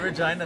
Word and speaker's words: Regina: And Regina, the city that rhymes with fun.